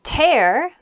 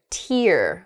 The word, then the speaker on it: tear: into a clean like tidy ball next a tear a rip in something um like you might tear a piece of paper in half the same spelling um can also make uh the word tear which is uh that drop of water that